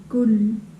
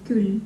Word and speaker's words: kull: So I have to say this oo more strong Hmm. so that it doesn't, Yeah, doesn't sound like Ü.